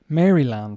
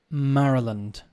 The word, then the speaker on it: Maryland: How do you think you pronounce this, guys? Maryland, right? Wrong. Maryland. Maryland. It's interesting when you go to different places in English-speaking countries, or anywhere, I suppose, they often are not pronounced the way phonetically, right? Should be Maryland, but it's not.